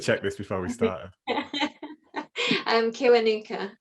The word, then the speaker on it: Kiwanuka: Oh, see, how do I pronounce the surname? I should have checked this before we started. Kiwanuka. Kiwanuka.